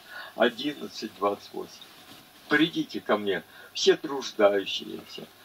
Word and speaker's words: труждающиеся: Придите ко мне, все труждающиеся и обремененные, и я успокою вас. Сегодня произносят многие написанное здесь трудящиеся. Нет там этого слова трудящиеся, а есть труждающиеся и обремененные.